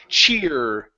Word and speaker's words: cheer: your lips forward ER cheer cheered cheered cheered there you go yeah so when we pronounce that R our lips come forward Che my question normally